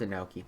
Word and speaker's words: Anoki: Yes, it's Anoki. I googled how to pronounce it.